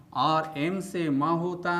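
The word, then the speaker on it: psalm: बात यह है कि साम के बीच में एल साइलेंट लेटर आता है। और इसके बाद एक बात और ध्यान देने वाली है कि इसमें साइलेंट लेटर पी शुरू में ही आ जाता है।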